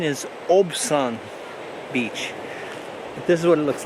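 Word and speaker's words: Obyan Beach: Okay, I was just informed that the correct pronunciation is Obian Beach.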